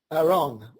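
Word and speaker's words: ארון: It was interesting when I found out that the Hebrew word for the Ark is pronounced Aaron, which is spelled A-R-O-N.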